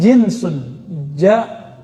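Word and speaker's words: جنس: Jinsun, jins. Pakai jins nggak Pak? Itu beda lagi ya. Jins itu bacanya ya. Kalau ini jinsun, jim nun sin, jenis bahasa Indonesia, genus dalam bahasa pengetahuan lama ya.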